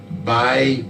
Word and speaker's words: Bai: We also have another Bai Bala, that's B-A-I, and the last name is spelled G-B-A-L-A, by Bala.